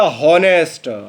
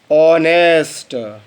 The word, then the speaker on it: honest: आपने उच्चारण किया हॉनेस्ट, हा से, क्योंकि हा से बनता है एच। आपको उच्चारण करना था ऑनेस्ट। इसे बेटा हम हॉनेस्ट नहीं ऑनेस्ट पढ़ते हैं, ऑनेस्ट।